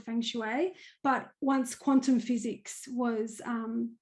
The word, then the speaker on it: feng shui: So the other thing is you're a feng shui, I hope I'm pronouncing it right. Feng shui, is that how you pronounce it? Yes, that's correct.